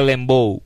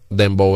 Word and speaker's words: Dembow: Usted le decía Lembow. Lembow. Él no sabía pronunciar la palabra Dembow, señor. Exacto.